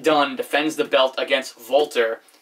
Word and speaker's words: Walter: defends the belt against voltar not Walter voltar like to say it like that and probably the biggest